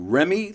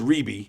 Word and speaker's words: Reby: Remy, Latoya, and Jermaine. Well, it's actually Reby. pronounced Reby. Reby.